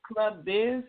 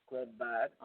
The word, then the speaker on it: Club Vibes: And it's going to be at Club Biz. Is that how it's pronounced? I mean, Vibes? Club Vibes? Club Vibes. Okay.